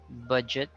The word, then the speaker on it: budget: to the bud budget the U and the E have the same sound sounds awkward but if you look at the dictionary they have the same symbol it's an inverted e so budget culture you